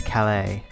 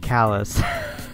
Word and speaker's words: Calais: to I think that's Calais I don't think that's supposed to be pronounced callous which is I want